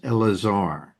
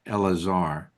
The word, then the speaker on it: Eleazar: This is Elazar. Even though it's it it's typed out as Eleazar, it's pronounced Elazar as Rabbi Mary was mentioning.